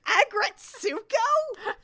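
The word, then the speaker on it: Aggretsuko: Agretsuko? Agretsuko. Agretsuko. Her name is Retsuko, and they put aggressive in Agretsuko.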